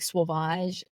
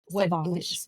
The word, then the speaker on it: Sauvage: So you mentioned like Sauvage. Sauvage. Dior. Sauvage? Yes. Okay, I pronounced it wrong.